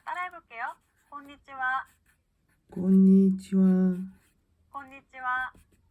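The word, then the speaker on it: こんにちは: 곤니치와, konnichiwa 곤니치와. 네, 좋습니다. 우리 분명히 이 글자 하라고 배웠는데요. 인사말로 쓰일 때는요, 하 발음이 아니라 와라고 발음한다는 거 기억해 주시고요. 인사말로 얘기할 때는 곤니치와 라고 한다는 거 기억해 주시면 좋겠습니다.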